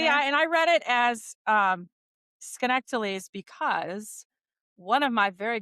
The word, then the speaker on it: Schenectady: How would you pronounce it? Schenectady.